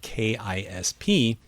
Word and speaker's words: KISP: Here are new contexts, NISP, FISP, and RISP, which can be probed using the non-word KISP with the expectation that it will be pronounced to rhyme with lisp.